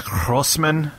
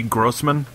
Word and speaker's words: Grossman: Yeah, it's somewhere in there he says Grossman, yeah. Saying, like, a weird, like, Yiddish G. Yeah. When it's just supposed to be Grossman.